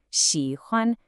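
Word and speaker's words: 喜欢: You get a dipping third tone, xi, followed by a high, flat first tone, huan. Xi, huan.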